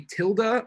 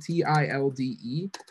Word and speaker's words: tilde: squiggly line here is called a tilda i think that's spelled t-i-l-d-e but it's called a tilde and what it represents